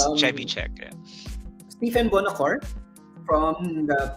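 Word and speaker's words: Trzewiczek: I still have to hesitate before pronouncing his last name because it's like it's a Polish name. It's hard. Yeah. But it's Chevichek.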